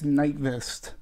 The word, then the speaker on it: Nyqvist: I believe it's Nyqvist.